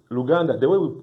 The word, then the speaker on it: Luganda: And in Lugana, it's Luganda.